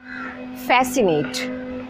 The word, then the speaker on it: fascinate: Fascinate. F-A-S-C-I-N-A-T-E, fascinate. Crime and detective books fascinate her. Scenario. S-C-E-N-A-R-I-O, scenario. The C is silent.